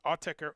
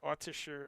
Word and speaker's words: Autechre: Like one of my favorite electronic bands, Autechre, and they encourage you to pronounce it whatever way you want, right? They say whatever you want, Autechre, Autisher, Autisher.